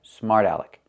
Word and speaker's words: smart aleck: Again, the T changes to a fast D. Smarta, smarta, smart aleck.